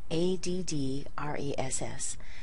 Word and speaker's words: address: So as a noun, we're going to stress the first syllable.